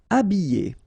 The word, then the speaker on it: habiller: Habiller. Okay, remember E, double L, and then a vowel, Y, Y. Habiller. H is not pronounced.